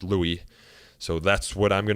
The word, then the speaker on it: Louis: I guess the Louis confusion is pretty common, but Jeff assures me that it is pronounced Louis, so that's what I'm going to use here in this introduction.